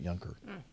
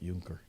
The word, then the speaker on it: Younker: name was malcolm younker that's why he pronounced it younger not juncker but i'm sure it